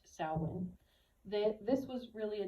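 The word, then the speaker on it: Samhain: they called saln spelled Sam hay but it's pronounced saln that this was really a day of honoring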